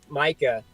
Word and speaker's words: Mica: Yeah, Micah Mountain.